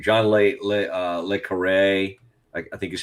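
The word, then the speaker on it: Le Carré: John Le Carre, I think is how you say it.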